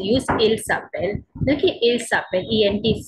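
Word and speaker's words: s'appellent: Okay, so ent is silent. So if you are saying my parents, they call themselves, means their names are. So in that case, you use il s'appelle. Okay, il s'appelle, ent is silent.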